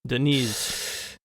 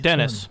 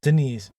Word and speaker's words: Deniz: there's a strong affinity for Deniz not Dennis Deniz not Dennis no not Saint Dennis and so there's a